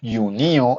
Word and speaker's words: junio: mayo Mayo es mayo yuno ojo con la pronunciación yunio es junio yulio es